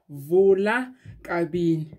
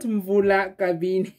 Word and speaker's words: Vula-kabini: the tutorial for our vola carbine not vula thank you so much you helped me so much in the comment section and now i know that it's been saying it wrong all this time but i'm